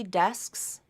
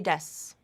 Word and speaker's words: desks: so this phrase three desks SK SKS SKS that K might drop out and be pronounced as three deaths three deaths I bought